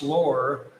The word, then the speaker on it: Lore: hey Chuck, my wife, Lore, pronounced Lore, would get a kick out of you saying hello. Hello, Lore. I think I pronounced it right at the beginning, which it doesn't look like Lori, it looks like Lore.